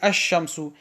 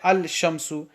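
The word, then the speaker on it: الشمس: So here we see ash-shamsu. We won't pronounce the lam. We won't say al-shamsu. Why? Because sheen is a sound letter, a harf shamsi.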